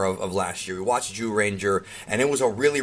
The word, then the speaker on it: Zyuranger: and yeah it's pronounced jew ranger jyu is pronounced like jew like jewish person that's how you pronounce it in japanese juden ja so anyways